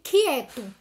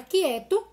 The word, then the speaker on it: quieto: A mesma coisa acontece quando eu pronuncio quieto. Quando eu pronuncio a palavra quieto, eu também não consigo observar o U que está ali dentro.